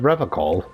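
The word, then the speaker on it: Revachol: He pronounces Revocol with a hard K, unlike other people. You said Revocol.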